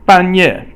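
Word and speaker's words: 半夜: 半夜 is both fourth tone, and so 半 means half, and 夜 means night, so it's midnight.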